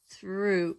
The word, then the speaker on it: through: THR, and remember the OUGH, and it has, the OU has a sound OO, through, and the GH doesn't say anything.